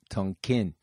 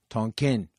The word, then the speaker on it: Tonkin: Gulf of Tonkin incident Tolkien I'd say Tonkin but you know I'm a western person Tonkin was the actual pronunciation the USS maddox was